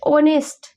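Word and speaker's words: honest: Sound आ रही है तो ऑनेस्ट यानी कि जो आपका एच है ये चुप है यहां पे ये एच बोल नहीं रहा है एच साइलेंट है और आवाज आ रही है ओ की ऑनेस्ट यानी कि प्लुरल ऑनेस्ट आवाज आ रही है यानी कि ओ की साउंड आ रही है तो यहां यहां पे क्या हो जाएगा?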